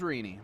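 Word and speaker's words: Rene: is rini you saw rini uh do very well last night oh it's rini i think i've been saying remy this whole time my apologies it's r-e-n-e and it's rini is how she pronounced okay all righty well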